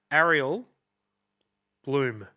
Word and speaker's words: Ariel Blum: I'm joined today by a musician, producer, Ariel Bloom. Correct. There you go. Nailed the pronunciation.